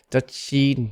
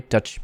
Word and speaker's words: Dutch: like in asian languages duchy not dutchy but dutch tongue curled up touching the palatal area dutch beer can i buy